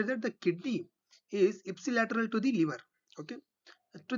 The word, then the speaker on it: ipsilateral: use the term intermediate ipsilateral see the pronunciation i i i p s i ipsilateral on the same side